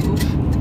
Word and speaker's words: Auch: En fait, c'est Auch. Ah oui, non, si tu le prononces à l'allemand, ça fait Auch.